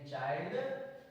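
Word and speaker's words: child: को आई पढ़ते हैं दोबारा जब किसी शब्द में आई के बाद एनडी या एलडी आए तो आई को आई पढ़ते हैं example M आई एल डी माइल्ड मा प्लस आई प्लस अदला छड mind C एच आई एल डी चाइल्ड के आई एनडी काइंड नेक्स्ट रूल्स जब किसी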